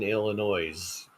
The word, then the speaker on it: Illinois: Yes, the S is silent in Illinois.